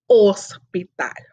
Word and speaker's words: hospital: i know el hospital whenever we use the h in espanol is silent so we don't it's there but we're going to pretend it's not there and just say el hospital i gotta check this